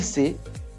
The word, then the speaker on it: sait: Then we have il sait. Don't pronounce the S. Don't pronounce the S. Don't pronounce the T.